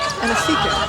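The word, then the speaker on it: Anosike: Yeah, and it's funny because in Tennessee, she's Anasike. She makes it to the WNBA and she becomes Anasike. And they said, well, you know, changing the pronunciation, but she said all along, I'm from Staten Island, pronounce it Anasike.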